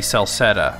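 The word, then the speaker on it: Celceta: The crystal ball showed me Salsetta, which is not spelled right, but at least they... phonetically, they got it right. It's supposed to be with a C.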